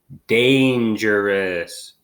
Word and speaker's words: dangerous: just for an example they give you Dan sure bus they set it as if it was a short a Dan when it's day okay that's kind of just